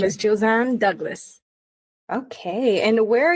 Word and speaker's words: Josanne: tell me your name again how do I pronounce it josanne so my name is josanne Douglas okay and where are you from so